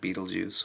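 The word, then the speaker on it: Betelgeuse: for example cus or Bal juice or if you want to pronounce it Beetlejuice or or any other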